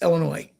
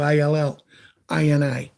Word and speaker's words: Illinois: get knocked around enough the S is silent it's Illinois or you can do it like we do ill Ina they play their first